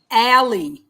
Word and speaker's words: Alley: last name is pronounced ally a-l-l-e-y ally yeah like the word like the small like the small passageway yes we're in new